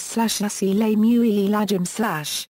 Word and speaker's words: السلام عليكم: The classical pronunciation of the greeting in literary Arabic is /as-salamu alaykum/. Many people today omit the initial as and pronounce the word as salamu alaykum.